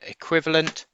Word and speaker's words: equivalent: about the sound structure it begins with an e but we say if equivalent and it has four syllables a quiver equivalent equivalent